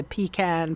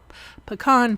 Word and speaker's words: pecan: adhering it to the pecan pie or pecan pie I was told that that's the proper way to say it and then uh I'm